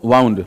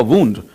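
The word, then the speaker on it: wound: जबकि वाउंड, अब यहां पे आप इसे वाउंड नहीं कहोगे, जब ये वर्ब की फर्स्ट फॉर्म है, अब इसका प्रोनाउंसिएशन हो जाएगा वुंड।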